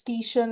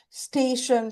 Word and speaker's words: station: And like it's "tation" not "station".